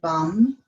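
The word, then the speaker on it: vam: the abdomen and our vision mantra here is vom it's spelled v a.m. but it's pronounced bum and again it's a long be short a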